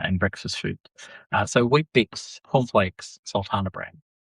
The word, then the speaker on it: Weet-Bix: You know Weet-Bix is spelled w e t? Yes. So, it's not actually it's not it sounds like wheat, it sounds healthy.